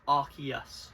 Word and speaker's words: Arceus: go easy your favorite yes Arceus and it's Arceus not uh how are the Americans pronounce it yes yeah it's Arceus come on